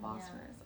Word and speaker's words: Bosphorus: Yeah, the Bosphorus.